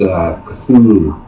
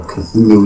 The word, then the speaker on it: Cthulhu: the Call of Cthulhu, there is no right way or wrong way to pronounce Cthulhu. It's Cthulhu, you know, or Cthulhu. You're supposed to Cthulhu, you know, kind of like the throaty sound. That's what Lovecraft kind of wanted, but it's just so